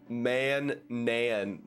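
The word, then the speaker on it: Manaan: It's pronounced Man-nan. Gotcha. Man-nan. Man-nan. Man-nan. Or Mon-nan. Ma? Is that Ma? Ma-nan?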